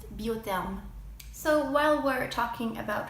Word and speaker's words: Biotherm: a lot of you are familiar with is biotherm which is actually pronounced Butte them so while we're talking about French skin care